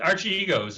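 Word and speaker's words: Archegos: yeah it's actually it's a uh arch arches archie egos it's uh it's actually a greek word believe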